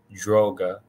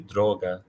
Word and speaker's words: droga: hang of it but this would not be pronounced droga that is a very anglicized way of saying it it would simply be droga drog drog drog you